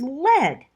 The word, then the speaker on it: led: tense of lead is lead the past tense of l e a d is l e d the spelling is what's tricky here lead l e d is pronounced so it rhymes with red r-e-b or r-e-a-d but